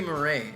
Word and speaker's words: Murray: I'm going to say Murray. It's not. Look at this. Murr and then Ray.